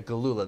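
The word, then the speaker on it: Gelula: Yeah, Galula, that's how you pronounce it.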